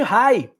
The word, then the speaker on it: Reye: Pode causar a chamada síndrome de Reye, se escreve R-E-Y-E.